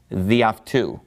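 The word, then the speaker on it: δι' αὐτοῦ: So the reason that it has that apostrophe and why it has lost an alpha is that it gets run together with the following word. So it's just pronounced διαυτού, meaning by him.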